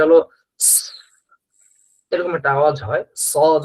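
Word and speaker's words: صاد: উচ্চারণ হবে সদ।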